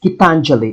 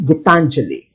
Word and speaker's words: Gitanjali: It's pronounced Gitanjali. I checked from an Indian professor of English based in the United States. Gitanjali.